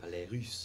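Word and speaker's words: Ballets Russes: Ballet Russe.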